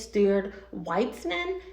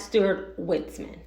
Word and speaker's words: Stuart Weitzman: Hi guys, it's Editing Sha-Phawn from the future, and I mispronounced the name of this brand incorrectly. It's Stuart Weitzman, not Stuart Weitzman.